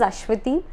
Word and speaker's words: Aswathy: was from north india he called me all the time so i told him sorry sir my name is ashwiti and then we all